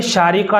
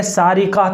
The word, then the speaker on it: شارقہ: دیکھیے، شارقہ نام بچی کا رکھا جا سکتا ہے اور بہت اچھا نام ہے، لیکن اس کا جو صحیح اور درست تلفظ ہے وہ بڑے شین کے ساتھ ہے۔ شارقہ، آخر میں بڑا قاف